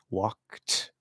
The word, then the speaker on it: walked: If the sound before is not a T or D and it's voiceless, then you pronounce the ED as just the T sound, walked, right?